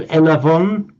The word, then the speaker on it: Elavon: online payment systems called elavon. That, in fact, is the classical Greek for I have received. But they've actually used the modern Greek pronunciation of a v rather than a b.